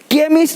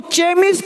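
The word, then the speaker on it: chemist: केमिस्ट, अब इसको चेमिस्ट नहीं पढ़ेंगे, चेमिस्ट। चोपड़ा को कोपड़ा नहीं पढ़ेंगे, इसको चेमिस्ट नहीं पढ़ेंगे, केमिस्ट।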